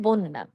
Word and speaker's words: বন্যা: কি হবে অন্য বন্যা আমরা অনেকে বন্যা বলি এটি বন্যা হবে না সঠিক উচ্চারণ হল বন্যা ধন্যবাদ অন্য বন্যা সত্য